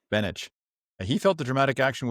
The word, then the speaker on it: Beneš: The Czechoslovak president in exile, do you know how to pronounce that? I think it's Beneš. Beneš.